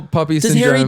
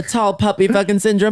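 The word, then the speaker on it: tall poppy syndrome: The tall puppy syndrome. Harry puppy puppy. What is that? Poppy. Sorry. Tall puppy syndrome is how you say it in America.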